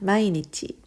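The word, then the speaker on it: 毎日: 자 그럼 메일 자 메일은 어떻게 발음하니 마이 있지라고 합니다 마이니찌 1일 단위 기억하십시오 오늘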